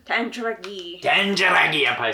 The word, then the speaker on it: Tandragee: to say this wrong, Tandragee? You gotta say it like an Irish person. Tandragee.